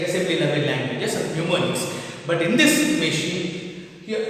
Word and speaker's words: mnemonics: Mnemonics, your spelling is M-N-E-M-O-N-I-C-S, and the pronunciation is mnemonics. Pronunciation is mnemonics, and it is spelling is M-N-E-M-O-N-I-C-S, mnemonic.